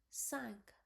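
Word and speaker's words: cinq: So C I N Q will be like sank.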